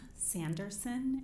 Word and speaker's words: Sanderson: is middle name and maiden name Sanderson s-a-n-d-e-r-s-o-n last name is pronounced like Harris with a lisp it's